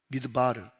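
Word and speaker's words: מדבר: 미드바르 아시다시피 히브리어는 자만 있고 모음이 없어요. 그러니까 미드바르 어떻게 쓰는가면 m d br mdbr이라고 적고 미드바르라고 읽어요.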